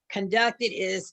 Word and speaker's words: conducted: So conducted, and you put the accent on the last syllable.